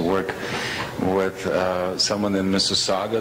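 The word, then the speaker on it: Mississauga: with uh someone in Mrs Saga that's how it's pronounced Mr Saga Ontario uh because she has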